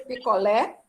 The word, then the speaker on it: picolé: Você já viu um vendedor de picolé anunciando picolé e dizendo, olha o picolé. Não. Olha o picolé. É assim, gente? Olha o picolé. Ana Maria Diniz Castro. Diga aí, Ana Maria. Como é que ele anuncia? Olha o picolé. Olha o picolé. Picolé. No lé.